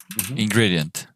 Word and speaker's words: ingredient: So the accent goes here. Ingredient.